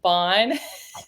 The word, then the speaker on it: Bohn: having me on and my name is pronounced Bon B sorry so since we're